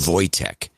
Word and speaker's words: Wojtek: It's pronounced Wojtek.